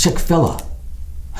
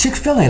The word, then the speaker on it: Chick-fil-A: I always thought it was Chick-fil-A. She said, it's Chick-fil-A, like filet of chicken.